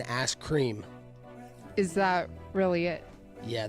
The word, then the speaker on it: Askren: been telling you guys Ben askren you said it wrong it's it's been asked cream is that really it